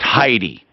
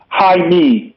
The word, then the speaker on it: Jaime: he goes by that j-a-i-m-e and it's pronounced heidi hi me me i me hi me got it yep like hi me hi you like you've